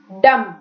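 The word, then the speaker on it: dumb: काना एक eye disease है ये कैटरेक्ट मोतियाबिंद गूंगा डम उसको डम नहीं बोलना है because B is silent here गूंगा टीचर्स बहुत बोलती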